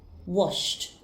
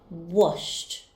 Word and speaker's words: washed: The verb wash has a sound ending in sh, so the ed ending will be pronounced as t. Washed, washed.